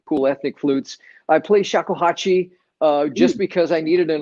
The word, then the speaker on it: shakuhachi: So, as you were talking about I don't know how to pronounce it. Was it the shakuhal? Shakuhachi, yeah.